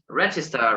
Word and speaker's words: register: pronunciation register stress restrictions think of the stress now register remember in the middle in the middle no the first one register now yes register